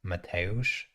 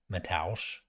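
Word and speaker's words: Mateusz: and all the announcers mateosh is just the polish version of the name matthew and it's mateosh um but they they pronounce it metals and then his last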